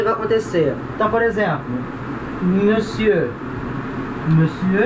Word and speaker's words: monsieur: Então, monsieur. Agora repara a pronúncia, se escreve com O, né? Mas não se fala monsieur, não, tá errado, é monsieur, com E, monsieur, tá?